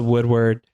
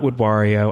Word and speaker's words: Woodward: with Woodward, not Woodwario. I do know how to say it, although it's really fun to say Woodwario.